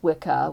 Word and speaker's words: Wicca: It's pronounced Wikah with a hard C.